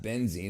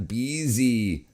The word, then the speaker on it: Beasy: It's not benzene, it's Beasy.